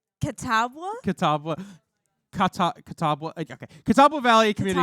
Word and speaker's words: Catawba: I believe, if I'm understanding correctly, can you pronounce it for me? The college name. Catawba.